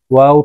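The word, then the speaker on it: واو: নুন নুন ওয়াও ওয়াও ঠোঁট গোল করে চার আলিফ টান দিয়ে উচ্চারণ করতে হবে ওয়াও হাকের শুরু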